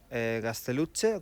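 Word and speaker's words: Gaztelugatxe: Esto es San Juan de Gasteluche, como se pronuncia en País Vasco.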